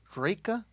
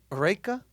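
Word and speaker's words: Reyka: Reka vodka. Help him with the spelling. Reka? That sounds like an Indian girl. Yeah, but it's not Indian. Reka?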